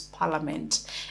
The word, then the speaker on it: Parliament: is not Parliament it is Parliament the ey is silent it's Parliament and as you can see the transcription on